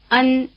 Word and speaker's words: Ēn: Ēn, Ēn, Ēn Notice that the sound "e" is spelled with an E as in chicken. Notice also that this is not the vowel sound spelled with an E as in "hen".